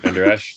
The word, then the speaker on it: Vander Esch: They have one of the best rookie defensive players in Vander, how do you pronounce his name? Vandersnatch or whatever. Yeah, Vandersnatch. Vander Esch.